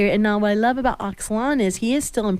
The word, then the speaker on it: Axlan: And anyway, I have known Axlan, Yanes.